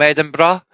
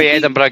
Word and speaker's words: Edinburgh: like I come from Edinburgh. You know, Edinburgh, guys. Edinburgh. I don't even know how to pronounce that. Edinburgh. Bur. No. Burrow. Bor. Burrow is England. Burough is Scotland.